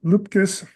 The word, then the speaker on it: Luepkes: Christina Luepkes, that's pronounced correctly, versus Susan Good et al.